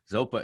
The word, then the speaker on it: Zopa: guitar player for this super rad band called zopa um am i pronouncing that correct zopa zopa is the the my middle name dharma name